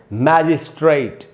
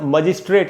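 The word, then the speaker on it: magistrate: Word हम बोलते हैं, हम इसको अक्सर मजिस्ट्रेट ऐसे बोल लेते हैं, डिस्ट्रिक्ट मजिस्ट्रेट। मजिस्ट्रेट नहीं होगा दोस्तों, आप देखिए क्या उच्चारण है, मै में जो ए है वहीं पर ज़्यादा रुकना है, मैजिस्ट्रेट। मैजिस्ट्रेट न कि मजिस्ट्रेट, ऐसे नहीं पढ़ेंगे।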